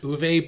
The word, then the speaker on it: Uwe: And I know his name is pronounced Uwe, but if he can't get movies right, I won't get his name right.